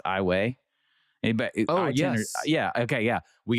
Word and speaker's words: Iowa: Ross, are you familiar with the town that looks like Iowa in Louisiana, but it's pronounced Iwayi?